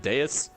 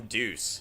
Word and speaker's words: Deus: I think that's how you pronounce it, Deus. Like Deus Ex. He said call him Deuce, so I don't know, man.